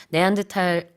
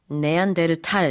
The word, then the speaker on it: 네안데르탈: 네안데탈 이렇게 사음절이 조금 익숙한데 네안데르탈 이거는 음절이 좀 더 많아서 죄송합니다.